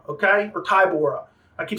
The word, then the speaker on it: Tybura: This was Marcin Tybura, okay?